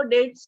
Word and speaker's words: debts: डेट्स means डेब्ट नहीं, इसको डेट्स पढ़ते हैं। DBTS, बी साइलेंट होता है, डेट, उधार।